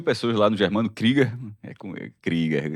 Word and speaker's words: Krieger: Krieger, é a pronúncia correta.